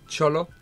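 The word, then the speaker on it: Xolo: Is it Cholo or Zolo? It's X-O-L-O. Cholo. Cholo, yeah.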